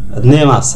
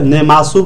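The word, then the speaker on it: 寝ます: নেমাস, হ্যাঁ, নেমাসু বলবো না, আমরা মাস বলবো। হ্যাঁ, বাংলায় উচ্চারণটা আমরা সু বলেছি, অক্ষরের অক্ষর বাই অক্ষর আমি তুলে দিয়েছি, বাট সঠিক উচ্চারণ হবে নেমাস, সু বলবেন না।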